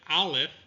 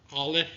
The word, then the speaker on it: Aleph: Ayin is similar to Het. It's pronounced down here, deep in the throat, whereas Aleph is a pause between 2 vowels.